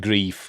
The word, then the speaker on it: Greif: That it's I pronounced it grief, because it does look like grief to me. It's G-R-E-I. I know G-R-I-E-F is grief, but E-I is also E as well, isn't it? But I don't know. But I've been told it's pronounced grief.